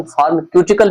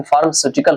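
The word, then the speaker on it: pharmaceutical: वैसे कहीं-कहीं इसका प्रोनाउंसिएशन फार्मकटिकल भी कहा जाता है लेकिन फार्मास्यूटिकल होते हैं।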